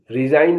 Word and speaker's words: resign: RESIGN, रिजाइन माने इस्तीफा देना। अब मैं बताने जा रहा हूं कि जिसमें H साइलेंट होगा।